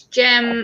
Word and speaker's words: Gemma: chatting to, they're like, "Oh, Gemma," and I'm like, "No, it's Gemma."